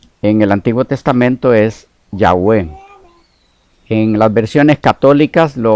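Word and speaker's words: Yahweh: que pareciera ser que lo más acertado en pronunciación lo más cerca a esa pronunciación es ya v ok -definitivamente jehová no puede ser la pronunciación originales es imposible cuando entremos en eso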